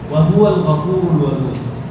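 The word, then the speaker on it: وهو الغفور الودود: আরবি তরতিব অনুযায়ী বা আপনার কিছু উচ্চারণ পদ্ধতির মধ্যে ভুল, যেমন হুয়াটা কিন্তু আলাদা, ওয়াহুয়া একই শব্দ নয়, ওয়াওটা আলাদা, হুয়াটা আলাদা।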